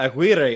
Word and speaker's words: Aguirre: And second was Imperial Beach Mayor Paloma, I'm not sure how I say this, Aguirre, yeah.